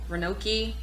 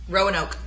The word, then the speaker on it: Roanoke: And then the next was I can never pronounce this. Renoki. Roanoke.